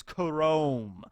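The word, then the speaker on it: K-Room: K room stand for and I know it's pronounced as Chrome you know but like K room and then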